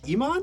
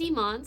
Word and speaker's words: Imane: name pronounced Iman? My name is Iman, so it's the second half of the name, I-M-A-N-E. So it's meant to be like Pokemon, kind of like the game Pokemon.